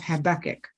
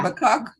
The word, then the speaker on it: Habakkuk: Habakkuk. Yeah, I hear people say Habakkuk, Habakkuk. I say Habakkuk, but I wanted to say it right.